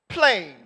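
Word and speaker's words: πλήν: Nevertheless, in the Greek is pronounced plain.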